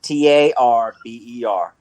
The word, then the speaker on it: Tarboro: in Edgecombe County Tarboro you pronounce it t-a-r-b-e-r tarber and number and 2A